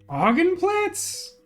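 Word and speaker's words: Augenplatz: I trying to get augen plots augen plots would be the correct pronunciation but you may or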